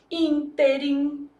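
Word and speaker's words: ínterim: Então, antepenúltima sílaba tônica, eu vou falar, por exemplo, interim. Nesse ínteim, nesse meio tempo, tudo aconteceu.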